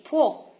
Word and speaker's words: può: Io posso, tu puoi, lui, lei può. There is an accent on the O, so remember to make it happier.